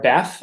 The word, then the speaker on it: Bet: So the hard Beth or Bet is a B sound, and the soft Bet is a V sound.